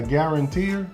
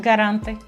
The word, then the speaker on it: garante: So they call it a guaranteer, how you say it? Guarantee? Garante. Guarantee. Un garante, lo siento, un garante, un fiador, una persona